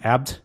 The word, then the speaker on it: Abt: And by the way, it's pronounced Abt apparently, and it is a style of beer.